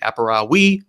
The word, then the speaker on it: Aparavi: They're based off of a Latin word, and in classical Latin, there is no hard V sound. It's a W sound, so it would be Aparavi, but they don't want to pronounce it that way.